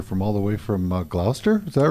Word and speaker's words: Gloucester: all the way from Gloucester. Is that right? Gloucester, I Massachusetts. said that right, didn't I? Not really. No. You have to, it rhymes with Hoffa, kind of. Gloucester.